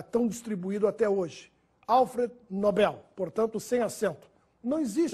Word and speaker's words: Nobel: inglês nóbel ou Nobel quando se ganha o prêmio é Nobel Esse é o nome do Sueco que nos deu o prêmio da tão distribuído até hoje Alfred Nobel portanto sem acento não